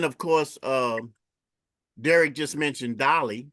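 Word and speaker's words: DALL-E: And then of course, Derrick just mentioned Dolly because Dolly comes from OpenAI as well, and that's Dalle.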